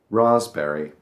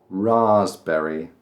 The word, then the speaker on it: raspberry: Raspberry. It's got the P in there. It's got a little sneaky P in there, but we don't do the P. We leave the P out. Raspberry.